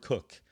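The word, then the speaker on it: Coke: Now this is pronounced Cook, Sir Edward Cook.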